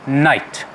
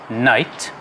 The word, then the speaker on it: knight: our first first word is difficult perhaps to pronounce for certain people but it's just night uh night and it is a man in medieval times